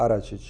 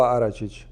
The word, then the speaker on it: Aračić: Aracic. Aracic. Aracic. Aracic. It's kind of hard to say it like that, but it's not like or anything like that. It's Aračić.